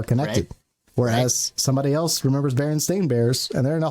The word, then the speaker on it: Berenstain: go back i think everyone in my childhood knew them as the berenstein bears yep and if you look at the book it is actually the berenstain bears and we were all just saying it wrong so basically it's the